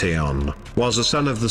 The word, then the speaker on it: Ion: Ion, pronounced Aeon, was a son of the sun god Apollo.